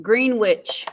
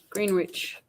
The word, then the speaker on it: Greenwich: It is green green witch. Green Witch. Greenwich.